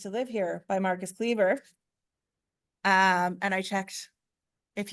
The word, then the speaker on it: Kliewer: and we used to live here by Marcus Cleaver um and I checked if you weren't here